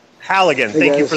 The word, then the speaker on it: Halligan: Halligan, hooligan, hot lips, hooligan, whatever. I thought hooligans were like UK soccer fans run amok or something. The only reason I know how to say the name correctly is because I've used one. Okay, Halligan.